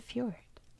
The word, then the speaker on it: fjord: anyway fjords what's a fjord first how do you pronounce it it's fjord a fjord is a